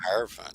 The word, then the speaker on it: hierophant: shuffled the crap out of the deck the hierophant yeah I was gonna let you pronounce it so I wouldn't screw it up